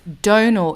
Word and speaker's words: Domhnall: a rehash I'm sorry Donal it's like tonal but with addy Donal like toenail okay that's yeah dislike